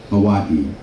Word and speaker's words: Hawaii: Hawaii. So the I is pronounced as an E. And we said, what about the E? The E is pronounced as an A.